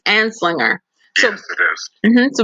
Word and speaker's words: Anslinger: How do you pronounce his name again? I say it's Anslinger. It's Anslinger.